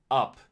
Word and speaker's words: up: The u here is a short uh sound like in butter. So it's pronounced up.